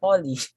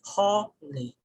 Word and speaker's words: holy: most of the time we're actually pronouncing this word as holly holly okay so um if you're just going to follow the proper stress mark on this word we say holy holy so you notice